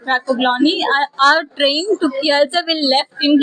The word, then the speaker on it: Kielce: because here they said Kielce, but in English pronunciation it's different. We Yeah. said it as Kialsa, Okay. and they didn't understand what is Kialsa. So you have to pronounce it Kielce.